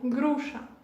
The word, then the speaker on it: груша: Poire, on prononce груша. Груша. Voilà, ici, on a la lettre chat. Ça, on prononce comme la lettre CH dans le mot chat. C'est pareil, груша.